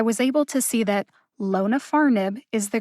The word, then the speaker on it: lonafarnib: name for zokinvi is lona farnib it has four syllables lonafarnib the first syllable lo gets the secondary emphasis the third syllable far gets the primary emphasis when i first looked